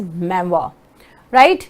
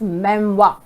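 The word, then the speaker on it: memoir: इज वई इट is ma'am right it's नॉट मेमोर लोग इसे मेमोर प्रोनाउंस करते हैं इट इज मेवा राइट आप इन सबकी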